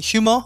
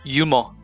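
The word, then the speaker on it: 유머: We don't pronounce that H. So instead of saying humor, we say yumo.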